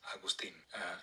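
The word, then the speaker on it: Agustín: My name is not August or Augustin. It's pronounced in the Spanish way, which is Agustin.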